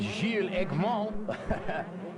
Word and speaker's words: Gilles Eggman: Behind him is number 64, who is Gilles Eggman, the French rider, so I should pronounce that Gilles Eggman.